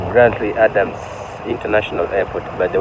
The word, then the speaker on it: Grantley: from Barbados grle Adams international airport so it's pronounced like grantly see grantly you have beautiful view but it's